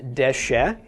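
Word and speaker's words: דשא: All right, first off, this is Dalet Shin Aleph, pronounced Deshe.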